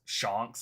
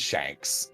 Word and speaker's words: Shanks: I'm going to print I've heard people call them shocks I heard people call them Shanks I don't know what it is I I will say you are not the first person I have heard pronounce his name Shanks yeah uh but yeah it is it is Shanks the um the stunks